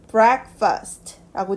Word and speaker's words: breakfast: 자 그리고요 아침 식사라는 단어의 발음은요 breakfast라고 되는데요 너무뻐라고 읽지 마시고 약간 퍼에 가깝게 breakfast라고 읽어주시면 되겠습니다 breakfast가 아니라 break first에요 다시 읽어 보도록 하겠습니다